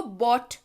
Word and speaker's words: bought: और ध्यान रखिएगा इसको बॉट पढ़ते हैं. BOUGHT इसकी स्पेलिंग है, लेकिन मैंने आपके सुविधा के लिए उच्चारण यहां दे रखा है. इसको बॉट पढ़ते हैं. क्या पढ़ते हैं? बॉट.